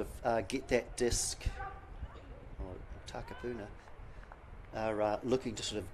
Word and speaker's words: Takapuna: So we are back live again, and Hillcrest are trying to sort of get that disc, or Takapuna are looking to sort of get that disc off their line.